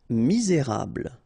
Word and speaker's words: misérable: pronounc cuire seul jolie chanceux final x not pronounc remember chanceux Fou combination of o n u ou fou mur misérable ok don't insist on the final here ble